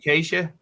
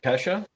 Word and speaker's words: Kesha: Roger Justin Bieber and Keisha they had birthdays it's Acacia or Kesha okay Kesha I said it wrong I'm an idiot did